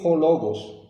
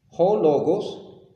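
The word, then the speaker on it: ὁ λόγος: que usted ve aquí cuando dice Theos en Hologos. Hologos, así se pronuncia lo que está en amarillo.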